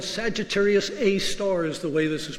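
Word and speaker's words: Sagittarius A*: the heart of the Milky Way it's called Sagittarius a star as the way this is pronounced and by applying this equation to those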